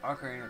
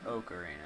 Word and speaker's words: Ocarina: back filming even more Ocarina of Time even though people are stupid and think it's Oak Arena but you know what